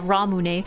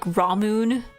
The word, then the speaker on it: Ramune: I guess maybe it depends if you're pronouncing it wrong like ramoon or if you're just like pronouncing it in a very English way, right?